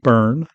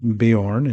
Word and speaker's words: Beorn: Most people are unaware that the name is pronounced burn, not Bejorn as in the movie, and therefore the name of the tribe is the Burnings.